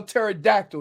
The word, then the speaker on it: pterodactyl: that you can spell pterodactyl your clown it is very impressive hey the p is silent dumbass Sergey Bob fobaroski